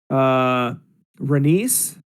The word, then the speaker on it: Renice: Renice, which rhymes with penis.